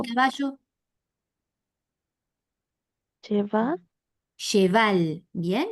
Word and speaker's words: cheval: Cheval. Cheval. Bien. Bien fuerte la B corta. No se olviden que la B corta se diferencia de la B larga. Entonces, cheval. ¿Vi?